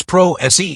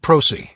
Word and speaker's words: pro se: And just like it's prose, not proc. If you're going to argue legal terms in court, you should at least pronounce them correctly.